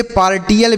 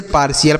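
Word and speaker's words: partial: इसे पार्टियल बिल्कुल नहीं पढ़ेंगे। इसे पार्शियल पढ़ा जाता है। यही इसका सही उच्चारण है।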